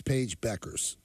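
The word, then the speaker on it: Bueckers: error by you Peter maor ER the you is silent is Paige Beckers oh no is that honest yeah is that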